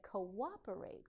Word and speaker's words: cooperate: Those same 4 letters are part of a word like cooperate. Cooperate. Co-op. The same 4 letters, 5 sounds.